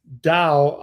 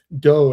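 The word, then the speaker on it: Tao: these chili waters right and it's in the dao um national forest is spelled to but it's pronounced dao in Chinese and do in Japanese Right.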